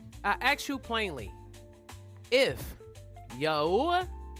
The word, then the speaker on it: Yahweh: Pronounced Yahoo. Ah, Yahwa. He says, "Tell them Yahweh, the Elohim of your fathers, has sent you.